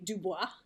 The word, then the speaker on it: Dubois: She played Tiffany Dubois. I did the French pronunciation, no big deal. I prefer it.